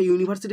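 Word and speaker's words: university: দেখো ইউ, আমরা জানি ইউ এর উচ্চারণ যদি ইউ এর মতো হয় এ বসে, দেখো ইউনিভার্সিটি উচ্চারণটা ইউনিভার্সিটি, তাহলে ইউ এর মতো হয়েছে, তাই এখানে বসলো এ।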